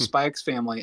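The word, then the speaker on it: Spy × Family: watch Spy X family I know you're not supposed to pronounce the X Jacob but I watched spikes family and I adore it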